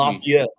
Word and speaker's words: Lafayette: it Jonathan teach me Lafayette Lafayette it's not even how it's spelled that's that's that's Louisiana